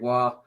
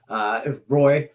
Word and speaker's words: Roy: I can't stand Patrick Waugh. Patrick Roy, by the way. That's how we pronounce it here. Roy, being from Detroit and watching those Dominic Hasek, those Wings Avalanche, just the series, whatever.